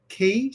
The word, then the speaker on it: Keely: It's not pronounced or. The best way to remember how to pronounce my name is think of key to success, right? Key is my name.